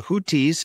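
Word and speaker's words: Houthis: but we're going to jump into this the hutis as it's pronounced in English or alun also known as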